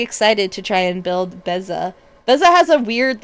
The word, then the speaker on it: Beza: Apparently I've been saying it wrong. It's I I keep going like Benza, but it's Beza the Bounding Spring from Bloomberg.